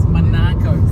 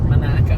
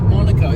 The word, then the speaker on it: Monaco: the history t coming it's called monacco people call it monacco it's named and spelled like Monaco but it's but everyone calls it Mano okay it's like a odd little quirky naian thing manaco you say Monaco people